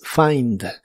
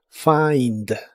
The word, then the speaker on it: find: El verbo encontrar en inglés es find. Se pronuncia como si tuviera una a entre la f y la i. Find. Find.